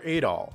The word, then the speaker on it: Adol: it perfect absolutely not you are adol and yes i will always pronounce his name that way since that's how the original games did it plus eight all just sounds better than at all at all sounds too much like adderall so it all it is